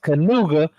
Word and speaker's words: Knigga: actually pronounced Canuga.